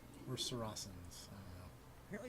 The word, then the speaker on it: Saracen: You think it's hard C or soft C? I'm assuming soft C will look that up just to be safe. Apparently it is in fact soft. Pronounced with an S sound.